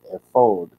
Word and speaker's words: ephod: Now, to pick up from where we left off, we're talking about the ephod, also called the ephod. Ephod, more properly, is the way to pronounce the word.